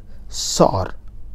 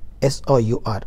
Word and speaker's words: sour: Okay, yet another very common mistake noticed among Indian is the word sore. Okay, S-O-U-R, sore. Sorry, it is not that way, it is sour. The pronunciation is sour, sour.